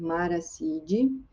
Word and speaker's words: Marattiidae: Subclasse Maraciide. Não esqueçam que quando a gente usa o T, quando aparece o T aqui no nome latino, a gente pronuncia com som de S.